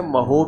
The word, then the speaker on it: mho: ऊपर ले जाऊं तो स्पेलिंग पलट देते हैं तो ये हो जाएगा MHO, यानी हम इसे महो भी बोलते हैं।